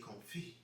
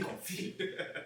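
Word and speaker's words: confit: So for the turkey we got a turkey comfi. You know you got to say it right. Say comi.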